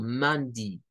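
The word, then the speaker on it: Monday: de la semana Entonces ustedes van a encontrar a veces personas que pueden decir eso como mondy It's mondy It's tuesday It's wednesday It's thursday It's Friday It's Saturday It's Sunday como di un sonido largo de una I di mand tues wes es una pronunciación alterna muy poco usada pero que cuando decimos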